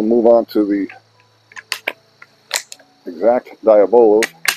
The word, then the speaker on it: Diabolo: All right, we'll move on to the exact Diabolo. Some people pronounce that Diablo. I'm not sure, but I'm pretty sure that I was corrected once a long time ago and told that it was Diabolo or Diabolo.